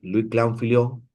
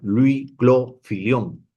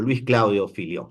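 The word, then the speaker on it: Louis-Claude Fillion: Vamos a a leer algo de Luis Clan Filón, perdón, lo he pronunciado mal Luis Clo Filión, ¿no? O Luis Claudio Filión, ¿no?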